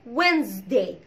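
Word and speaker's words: Wednesday: طيب انما بقى طبعا اليوم الاربع اسمه وينزداي وينزداي، لانه هنا هو برضو الدي والان لا ينطق، فانا كلت الدي خالص ونطقت الاس زد، ما نطقتهاش اس، ما قلتش وينزداي، انا قلت وينزداي وينزداي وينزداي تمام كده.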